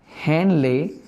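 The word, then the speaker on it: Henle: एक U shaped structure है जिसको कहा जाता है लूप ऑफ हेनले, या आप इसको कह सकते हैं लूप ऑफ हैनल, ठीक है। इसकी दोनों प्रोनाउंसिएशन करेक्ट हैं, एक लूप ऑफ हेनली या आप इसको कह सकते हैं लूप ऑफ हैनल।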